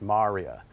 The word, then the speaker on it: maria: C and then the plural it looks like Maria but it's pronounced Maria and so these are called lunar maria or